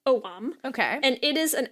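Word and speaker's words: Ogham: Celtic alphabet of oam spelled o g h a m but apparently pronounced oam okay and it is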